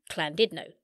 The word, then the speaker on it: Llandudno: Llandudno in North Wales, where I quickly found out the Welsh pronounce it Llandudno.